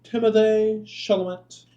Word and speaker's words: Timothée Chalamet: So this is Invincible trailer, fake trailer, I'm going to say that again, featuring Henry Cavill and Timothée Chalamet.